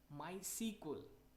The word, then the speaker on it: MySQL: security to our data the next term is MySQL we can also pronunciate mind sequel friends my sequel is an